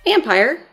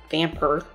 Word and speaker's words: Vampyr: for our current situation vampire or based on how it's spelled vamper was developed by don't not